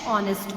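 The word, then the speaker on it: honest: Vipul is dash ऑनेस्ट बॉय। कल हमने पढ़ा था यहाँ पर ऑनेस्ट के पहले क्या आर्टिकल आएगा, बिकॉज ऑनेस्ट का एच इज साइलेंट।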